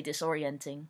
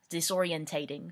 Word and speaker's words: disorientating: which by the way that's how British people say disorienting they put an extra syllable in there disorientating that's how they say it so sometimes I